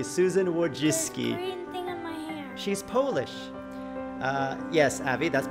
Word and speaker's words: Susan Wojcicki: Susan is the CEO of YouTube she is Susan Wojcicki I know that's the correct way to pronounce her name because I watched her video explaining how to pronounce her name correctly Susan Wojcicki she's polish yes Abby that's because as I